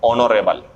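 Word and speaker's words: honourable: इसका उच्चारण बच्चों ऐसा होता है जैसे ये है, तो ऑनरेबल, ऑनरेबल ये, तो इसका क्या आएगा? एन। इसका उच्चारण होता है बच्चों यूरोपियन, इसी का देखना पड़ेगा, खुद ही नाउन है ये, तो इसमें क्या आएगा?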